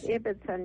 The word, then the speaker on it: Ibbetson: okay thank you so much um ibbitson and is that the correct pronunciation by the way yes it is ibbitson yes IBB t s o n nutritionist author